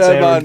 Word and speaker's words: Aaron: And you pronounced my name right as well. It's Aaron.